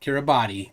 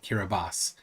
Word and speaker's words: Kiribati: boss hear a boss they say not Kiribati kiribas there it is now